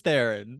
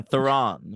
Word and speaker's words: Theron: We're only having a threesomes if it's two boys and me, or if it's with Charlie's Theron, is what she That's right. says. Yeah, Theron, she pronounces it, I Oh yeah, noticed.